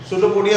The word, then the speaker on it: pseudopodia: सूडोपोडिया starts from P से start होता है, स्पेलिंग थोड़ा ध्यान रखना होगा।